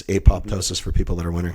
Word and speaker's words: apoptosis: it it it can't go through you know apotosis it can't do anything you know all that stuff it's apoptosis for people that are wondering how it's spelled